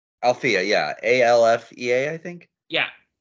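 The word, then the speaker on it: Alfea: Which, did I pronounce that correctly? Althea, yeah.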